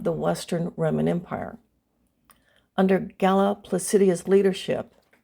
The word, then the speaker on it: Galla Placidia: Under Galla Placidia's leadership, and I'm pronouncing her name in the Latin rather than the Italian way.